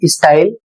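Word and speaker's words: style: अगला शब्द है एस टी वाई एल ई स्टाइल।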